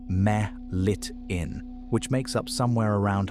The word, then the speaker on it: melittin: The venom is called apitoxin and its dominant ingredient is a peptide named melittin, pronounced meh-lit-in, which makes up somewhere around half to 60% of the dry weight.